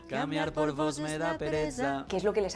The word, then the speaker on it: pereza: Que básicamente es esa Z que teníamos antes, pero con una D delante. Pereza.